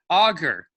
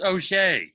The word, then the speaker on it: Auger: You always introduce her as Gwyn Auger. Hmm. But her last name is pronounced Auger.